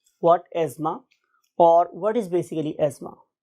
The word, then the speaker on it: asthma: यानी कि अगर आप सही प्रोनाउंसिएशन सीखेंगे तो ये एज़मा है, लेकिन बहुत से लोग इसको एज़मा और बहुत से लोग इसको जोर लगा के एस्थमा भी कहते हैं, but true pronunciation is एज़मा, right.